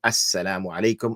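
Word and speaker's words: السلام عليكم: idgham, yani we do assalamu alaikum, and the lam disappears. It is not pronounced.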